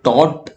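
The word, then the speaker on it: taut: Loose, tightly packed हो, टॉट मतलब टाउट बोल लो, टॉट बोल लो, थोड़ा प्रोनाउंसिएशन अलग हो सकता है।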